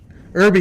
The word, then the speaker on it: Irby: And so another one of the guys, Michael Irbe, is that how you pronounce his last name? Yeah, it's Irby. Irby.